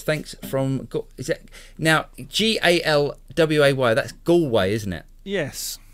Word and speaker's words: Galway: Yes, the Americans would probably pronounce that Galway.